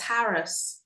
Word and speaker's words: harass: Harass. Harass. Have you ever heard it pronounced any other way? Yes. Harris. Harris. When was the last time time you heard anybody say harassment? Um, oh not for a not for a long time.